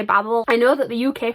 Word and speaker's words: Babel: author pronounces it as Babel, because she is from the US. But I will say there is like a nickname within this book of babblers, as in babbling, as in language to babble, like to talk.